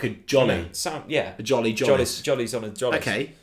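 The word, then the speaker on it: Tzolis: Jolis? Apparently that's the way you pronounce it. Oh, I'm so sorry. I think Zolis worked, but apparently it's J. Zolis. Apparently it's Zolis with a hard J.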